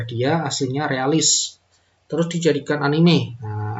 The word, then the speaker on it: anime: benar aja terus ini dibacanya bukan Anim tapi anime ya karena dengan ejaan Jepang anime bukan Anim anime ya Nah ini